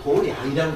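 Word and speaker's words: 道場: 도장인데 불교에서는 이걸 도량이라고 읽습니다. 그거 잘 알으세요? 그러니까 스님들이나 그들이 수행 정진하는 것도 도량이라고 그러는데, 도장이라고 써놓고 읽을 때는 불교에서 도량이라고 읽습니다. 그래서 우리가 이제 뭐 지장도량, 관음도량 그런 말을 써요.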